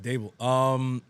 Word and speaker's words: Daboll: Daboll? You said it right, Dable.